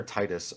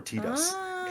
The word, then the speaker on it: Titus: In the Japanese, in the katakana, it's Tita, which isn't either Titus or Titus.